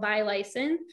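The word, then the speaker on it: violacein: It's called violacin. It's spelled like viola, V-I-O-L-A-C-E-I-N.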